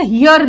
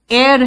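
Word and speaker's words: heir: है कोर्ट में जाओगे कई वकील लीगल हियर लीगल हियर करते रहते हैं बेटा यह दोनों का प्रोनंसिएशन एयर है एयर य दोनों का प्रोनंसिएशन सेम है ठीक है इसका मतलब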